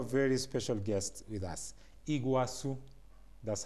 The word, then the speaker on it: Iguassu: we have a very special guest with us Iguazu that's how he pronounces his own name he was who is